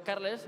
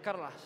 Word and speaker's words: Carles: Entonces la E ya no se dice E, ¿no? Es como en catalán. El catalán es un idioma chulo, dice. Yo digo Carles, pero vosotros decís Carlas. Bueno.